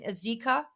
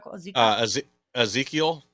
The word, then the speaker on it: Ezekiel: it correctly the um it's in azika is that how you said Ezekiel Ezekiel there you go please note I read